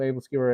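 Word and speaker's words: æbleskiver: home husband is Danish Luis your pronunciation of able skewer is correct okay thank you I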